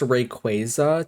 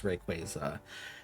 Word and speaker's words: Rayquaza: I think it's pronounced Rayquaza technically and I say Rayquaza. I think even the Pokemon Twitter said the official pronunciation was Rayquaza and I just can't be can't be changed. I think so.